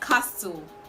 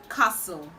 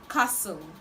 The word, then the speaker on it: castle: you will know that this word also has a silent letter and the silent letter in this word is t so it's not castle it is castle castle castle okay i